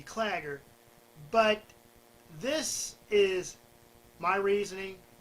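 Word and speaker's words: Claggor: on Act 1 that I mispronounced Clogger. It's supposed to be Clagger, but this is my reasoning and my message to all of you.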